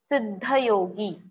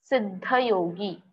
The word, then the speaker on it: सिद्धयोगी: Siddha yogi. Siddha yogi. Just like we used to recite or pronounce the word siddhi or siddhesh, likewise you have to pronounce this word siddha yogi.